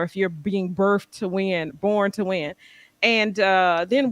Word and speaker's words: Winborne: a lot of times people would would mess up Winborn by adding a d you know saying windborne um sometimes people would pronounce it with the L like Wilborn um and I think